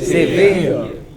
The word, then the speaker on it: severe: severe, What is this? severe, What is this? career, What is this? mountaineer, All of these words ending in ERE or EER take stress on the final syllable.